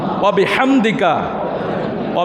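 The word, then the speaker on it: وبحمدك: আমার সাথে ভালোভাবে উচ্চারণটা করবেন, সুবহানাকা আল্লাহুম্মা ওয়া বিহামদিকা। হাম পড়বেন না, হা।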